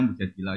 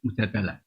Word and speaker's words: Mujadilah: Yang benar itu bacanya mujadilah yang level A. Tapi umumnya orang baca apa? Mujadalah.